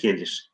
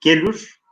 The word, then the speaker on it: gelir: Uzaktan davulun sesi hoş gelir. Gelür, eski telaffuza göre yazılmış. Ama biz onu okurken gelür diye de okuyabiliriz. Ama günümüz Türkçesiyle telaffuz edeceksek gelir diye okuyoruz arkadaşlar.